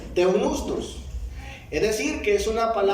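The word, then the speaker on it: θεόπνευστος: Pero en el texto griego, esta palabra inspirar es la palabra que encontramos acá, que se pronuncia teunustos. Escuche bien, teunustos.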